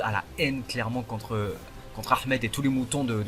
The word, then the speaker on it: Ahmed: Et arrêtez de vous foutre de moi, je dis Ahmed, ok? Le H se prononce. Bon, c'était une petite parenthèse, voilà. Claude a la haine clairement contre Ahmed et tous les moutons de l'équipe rouge.